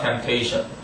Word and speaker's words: temptation: The temptation, P가 묵음이야. temptation, 유혹.